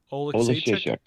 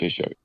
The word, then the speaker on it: Oleksiejczuk: Oleksiejczuk. Yes. Yeah. Jim, I told you, pretend in the middle and everything. You just got to end it. You got to end it strong, What? Oleksiejczuk.